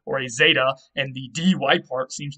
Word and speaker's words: zeta: a z sound, and the zeta in ancient Greek would have actually been more of a z sound. It wasn't just a Z like today. It was more like a DZ sound.